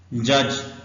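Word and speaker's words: judge: है ज sound soldier जज इसमें डी साइलेंट है लेकिन डी और जी मिलके ज साउंड बनाती है जज इंडिविजुअल इंडिविजुअल ये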